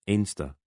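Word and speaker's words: Anstruther: Mons and Pittenwee, then Anstra, pronounced Inster by locals.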